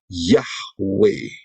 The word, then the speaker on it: Yahweh: Kita tidak mau mengikuti aturannya Satan, karena itu pengucapan yang benar adalah Yahweh.